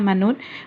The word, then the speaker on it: มนุษย์: แต่ มนุษย์ อ่าน ว่า มนุษย์ วิทยาศาสตร์ อ่าน ว่า วิทยาศาสตร์ อ่าน คำ สังเกต สระ เล็ก และ หมาย ที่ ไม่ ออก เสียง นะ คะ รส ชาติ